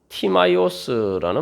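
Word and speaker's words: Τιμαῖος: 뭐 여러 가지 견해들이 있습니다만 문자 그대로 하면은 이 원래 성경의 원문의 그 발음은 그리스어로서 티마이오스라는 말입니다.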